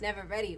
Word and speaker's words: Navarrette: star of Obsession, Massaretti. Thank you so much for joining me. Did I say it right? Yes. Massaretti. I was like, we're going to get this right. Massaretti like navigation.